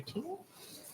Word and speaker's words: Thiele: Teal, Head of Career Placement at UNO. Good morning, Dr. Teal. Am I saying that right? Yes, teal like the color.